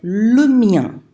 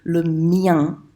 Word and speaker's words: le mien: on Skype, I said, it rhymes with rien. So you know how to say rien, just make sure you make it rhyme with that, okay?